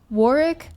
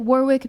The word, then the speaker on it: Warwick: war uh it's pronounced Warick I pronounce it Warwick because it refused to acknowledge that the UK cannot remember to pronounce the extra W in the word that's so stupid.